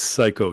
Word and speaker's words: Cayko: Yeah, it looked like uh Ko maybe to start with, but uh you know,